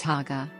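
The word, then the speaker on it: Xagaa: From July to September is the second dry season, the Zaga, pronounced Haga.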